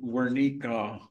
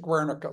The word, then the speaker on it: Guernica: How did Wernicke color the thinking about strategic bombing? It had some influence, but, and I pronounced it Guernica, so I'm not correcting you. It's because my Spanish is off.